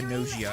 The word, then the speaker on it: Gnosia: watching uh Nozio or Gnosia as it's pronounced in the English dub. It's a weird pronunciation. But they actually pronounce the G.